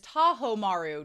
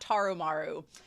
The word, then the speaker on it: Tahomaru: The name of Daigo's second son is Tahomaru, not Taromaru. Worst at pronunciation, but Tahomaru.